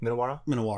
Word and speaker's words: Minowara: Is it Minowara? Is his lineage? How Yes. do you pronounce that? Minowara.